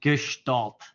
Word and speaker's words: Gestalt: This is pronounced Gestalt. So everybody knows a new word, a German word, Gestalt.